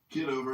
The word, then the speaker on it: Kitover: The other, is it Kitover or how do you pronounce it? Kitover.